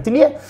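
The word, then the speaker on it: Thilliez: eh O Tiz Vabbè penso che la Z non si pronunci in francese è Frank tillier e comunque sono L'Osservatore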